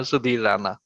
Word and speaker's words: Sudhir Rana: Sudhir Rana, or maybe you might pronounce it better. Yeah, Sudhir Rana.